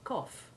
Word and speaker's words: cough: but also very simple the ou9 sound is the basic short o1 sound of dof or soft and we find it made by a few ought combinations like cough and trough and this ou9 sound